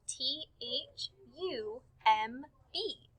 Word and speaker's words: thumb: word thumb is spelled t h u m b so it has the ending of the diagraph mb but when we hear the word thumb we just hear so look for words